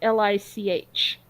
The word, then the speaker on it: lich: um and it's spelled li CH yeah yeah there's no T in Lich although it sounds like there ought to be okay like like a